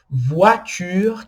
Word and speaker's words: voiture: Voiture, que é carro. Voiture, tá vendo? OI com som de UA.